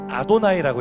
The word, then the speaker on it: 아도나이: 그래서 어떤 교회에서는 여호와라고 부르고 어떤 교회에서는 야훼라고 부르는 건데, 우리는 그것을 편의상 여호와나 야훼로 부르지 않고 히브리어를 음역으로 읽을 때는 아도나이라고 읽습니다. 실제 자음은 여호와 혹은 야훼가 되겠지만 우리는 아도나이라고 읽습니다.